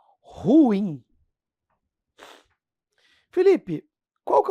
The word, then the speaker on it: ruim: Ruim. Felipe, qual que é o correto? É ruim ou ruim? Ruim. É um hiato, pessoal. A gente fala como se fosse monossílabo.